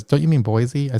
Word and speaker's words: Boise: I'm here with Angela from, I've learned to pronounce the city right, Boise, Idaho.